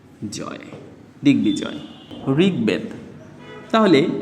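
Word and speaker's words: ঋগ্বেদ: করি তাহলে উচ্চারিত হবে দিক বি জয় দিকবিজয় ঋগবেদ তাহলে ঋ রয়েছে ঋ স্বাধীন রূপে থাকলে তার উচ্চারণটা কি হয় বয়সী রসিকারী ঋ গ ঋগ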